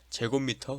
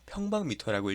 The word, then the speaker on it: 제곱미터: 자, 그렇게 되는데 보시면 메타 제곱은 제곱미터 혹은 평방미터라고 읽습니다. 해배라고 표현하기도 하지만 일본 말이니까 가급적이면 제곱미터, 평방미터로 읽어주시면 될 것 같고요.